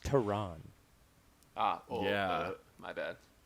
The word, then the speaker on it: Taran: gets choked out yeah he's just punching it's pronounced terran ah oh yeah my bad i had to